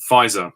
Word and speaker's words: Pfizer: the vaccine i think the vaccine is called pfizer i think that's what its name is spelt with a silent p at the start but not that that